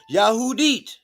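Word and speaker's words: יהודית: Transliteration, Yahudit. Pronunciation, Yahudit. Phonetic spelling, Yahudit.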